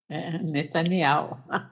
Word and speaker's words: Netanyahu: You're not going to understand what he says until he actually pronounces the name of the prime minister. כותב מסרור אחמד לראש הממשלה נתניהו ולנשיא איראן. Netanyahu.